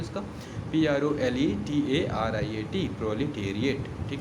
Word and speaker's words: proletariat: सबसे पहले मैं स्पेलिंग बता दूँ इसका, PROLETARIAT, प्रोलिटेरिएट, ठीक है, PROLETARIAT, प्रोलिटेरिएट।